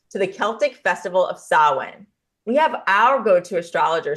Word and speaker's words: Samhain: what sawin is and we're just proud that we can say it because it it's not spelled everybody in the way that you would think it's spelled s m ha a i n can you talk a